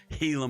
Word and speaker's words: Gila: reviews of True Detective it's pronounced heila monster I like my G's thank you I will pronounce it Gila monster heila monster what are you some sort of heathen Gaya monster The Hunger